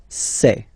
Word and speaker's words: ces: one set and then for the plural form it will be say Okay so let's see